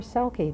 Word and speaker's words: selkie: a cell sheet well they're pronounced elchi or selki depending upon who you talk to the selkie is